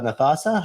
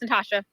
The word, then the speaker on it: Natasha: saw there was uh nathasa how you doing hi yeah it's pronounced Natasha oh Natasha sorry this is okay my